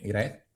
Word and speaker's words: Hiraeth: Eh, Iraz es una es una, no sé si lo pronuncio bien, Iraz, mejor que mucha gente, así que sí.